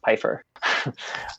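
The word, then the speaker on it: Pfeifer: e i f r but it's pronounced Piper Lebenthal shenin so those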